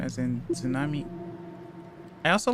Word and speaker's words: tsunami: the first time because even if you look at the word tsunami, you don't think to really pronounce it as tsunami as a native English speaker. You think of it more like sue with like a hard T somehow.